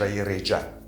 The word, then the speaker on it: Реҷа: The second case, between two vowels, Реҷа (A mode, a plan, a schedule) a schedule is a plan of action that needs to be followed.